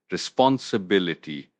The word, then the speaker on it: responsibility: Responsibility. Responsibility. The stress is on the bil syllable.